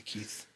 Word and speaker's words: Lakeith: Lakeith, is that how you say his name? Lakeith? Yeah, Lakeith.